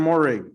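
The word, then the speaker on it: Moehrig: uh is it washington it's like morehead oh trayvon morrig yes sir i want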